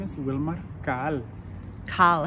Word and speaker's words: Caal: It is actually pronounced Al in my mother language, which is one of the 22 indigenous languages in Guatemala.